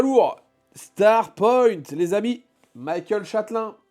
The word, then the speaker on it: Michel Châtelin: pareil ou c'est pas très lourd Star Point les amis Michael Châelin on le prononce à l'américaine parce que il vend à l'international donc Michael Châelin Michel Châelin évidemment merci donc deux produits